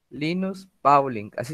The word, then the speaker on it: Linus Pauling: está en el chat linus pauling así se escribe se pronuncia no como se escribe linus pauling ok les